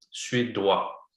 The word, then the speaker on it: suédois: prononciation. Su et doigt. Suédois. OK? O-I, c'est wa. Suédois.